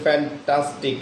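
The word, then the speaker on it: fantastic: যেমন ফ্যান্টাস, এই যে ফ্যান্টাস, অর্থাৎ আমরা যে ঠাস বললাম, এই ঠাসটা অত্যন্ত মানে একটু জোরে উচ্চারণ বা বাড়তি চাপ দিয়ে আমাদেরকে উচ্চারণ করতে হচ্ছে।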